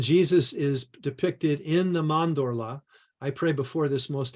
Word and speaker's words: mandorla: all this and he introduced me to the mandorla or if I was Italian and pronounced it correctly mondorla uh which is the intersection of of of